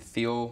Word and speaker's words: Thiel: It sounds like you guys had 2 great tournaments, because I actually have here that you even defeated Thiel College, I believe is how they're pronounced.